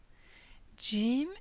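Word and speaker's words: ج: Jim is pronounced like J in jug or jewels. Ha is pronounced as H,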